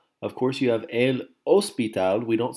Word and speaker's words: hospital: course you have an OSP tab we don't say el hospital ok ed OSP tab because the H is silent El Teatro the theater